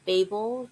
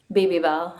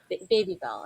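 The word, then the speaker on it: Babybel: you've worked with uh Babel the the cheese company right baby Bell yeah baby Bell I totally butchered that I'm so sorry yeah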